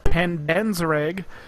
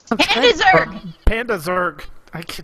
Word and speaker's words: Pandazerg: All right, Pandanzereg. Pandazerg. Why was I adding extra syllables in?